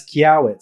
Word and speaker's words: Quiaoit: And then your last name, how do you pronounce that? And what's the story there? It's Quiaoit.